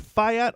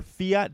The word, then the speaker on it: fiat: gonna hear the word Fayette or Fiat depending on who you're talking to later pronunciation I say yet because it's spelled the same way that the car Fiat is spelled and I don't see